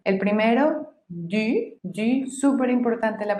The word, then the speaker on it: du: Recuerden que para pronunciar la U en francés tienen que hacer la boca como si fueran a decir una U, pero el sonido que sale es el de una I, I.